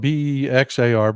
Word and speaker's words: Bexar: If you folks haven't heard, um, Bexar County, it's spelled B E X A R but it's pronounced Bexar County.